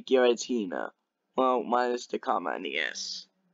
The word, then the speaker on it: Giratina: word this right here is how you say Giratina well minus the comma NES which I've Been